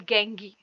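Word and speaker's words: gangue: the mineral is called गंगी कुछ गंगू भी इसको पढ़ते हैं कुछ गंगी भी पढ़ते हैं ठीक है सो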